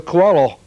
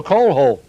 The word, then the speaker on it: Coelho: He said, "My name is Manuel Coelho." Uh I said, "Okay, I'm sorry. But how am I pronouncing it?" "Well, you're pronouncing it Manuel Coeho."